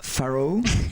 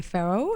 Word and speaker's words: Farrow: On dit Faro ou Faro? C'est comme vous voulez, mais si vous voulez le prononcer avec l'accent anglais, c'est Faro. Et sinon, c'est Faro, c'est bien aussi. Parce que ton papa est anglais, c'est ça?